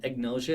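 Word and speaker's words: agnosia: spend too much time on these recognition um ignosia is a is a word you'll hear sometimes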